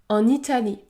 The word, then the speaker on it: en Italie: en Italie en Italie le N se prononce n n en Italie ou encore en achetant